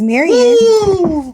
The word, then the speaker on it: Marion: Like, my mama's name is Marion, and it's an N clearly at the end, and people call her Miriam all the time.